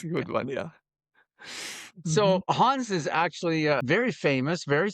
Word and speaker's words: Hans: like that and would say it the way we say it in English, Hans without the D. but it should be more like Hans, right?